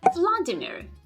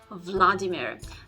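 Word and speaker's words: Владимир: way to say it first of all the stress is not on the first syllable again this is the tendency for the native English speakers to put the stress on the first syllable Vladimir the stress goes on the second syllable Vladimir Vladimir also the last syllable which is ear it's not pronounced as ER sound now the Earth sound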